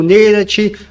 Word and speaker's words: Nanite: quero falar sobre o nenit tá exatamente sobre nenit alguns pronunciam como nenat ou nin independe como seja pronúncia Gente o que que